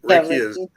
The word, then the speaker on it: Reiki: Reiki? Yeah, Reiki is energy that you use to either heal, align chakras, and on as far as that goes.